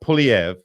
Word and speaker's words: Poilievre: one of our favorites Pierre PV that's right I pronounced it correctly I had promised earlier